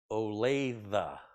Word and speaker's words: Olathe: are Vern says it's Olathe Olathe you or a lave you olathe doesn't sound right it doesn't have three syllables and it doesn't we're